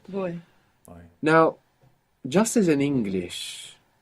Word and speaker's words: voy: Voy. Voy. The beginning bit of voyage. And you're mostly going to hear it pronounced more like a soft B. Boy. Boy. Voy.